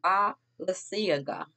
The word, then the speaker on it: Balenciaga: But it's Balenciaga.